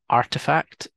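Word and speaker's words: RTFKT: got one here called RTF KT which is pronounced artifact and they started out um collaborating with lots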